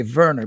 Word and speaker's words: Werner: i want to say verner because i spent so many years in europe that i i want to use the the german pronunciation but um i'll i'll call you werner flow to me really